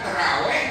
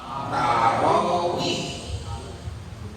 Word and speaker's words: tarawih: Tapi kalau itu terkait tentang rukun dalam sholat termasuk niat, bukan Jumat tapi Jumu'ah, bukan terawih tapi tarawih.